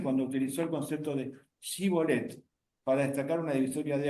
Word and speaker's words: shibboleth: La palabra shibboleth es una palabra hebrea que tiene una particularidad. No todas la pronuncian fácilmente, esa sh del comienzo, shibboleth.